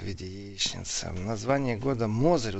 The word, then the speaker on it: Мозырь: виде яичницы название года Мозырь ударение падает на первый слог мы не уче оказываете Мозырь вот правильно говорить Привет из Самары деревня